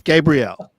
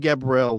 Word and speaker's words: Gabriel: But the young guy, even like now, Gary, how do I pronounce our center's last name? Michael Gabriel. It's Gabriel. Yeah. Okay. Because I've been saying Gabriel for some reason.